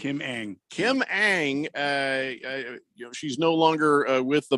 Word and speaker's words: Ng: Kim Ng. There's no A, so I'm just yeah. Okay. It's Kim Ng. Kim Ng.